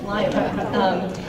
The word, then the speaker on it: Lima: They don't pronounce it Lima either, it's Lima.